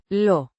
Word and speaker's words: lo: Pronounced. Lo. The O. is pronounced like the O in go.